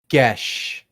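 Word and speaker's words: geis: How is it pronounced? I'm afraid. Gesh.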